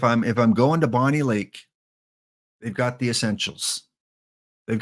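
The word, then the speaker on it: Bonney Lake: them is Bonnie Lake I hope it's not bony Lake if I'm mispronouncing it please let me know Max is it Bonnie Lake and Bonnie and Clyde or is it bony like bony M yes yes okay that's the best answer don't worry trivia is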